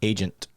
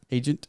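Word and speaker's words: AGEINT: my new sponsor agent security how do you pronounce it agent agent yeah it's just spelled funny i think they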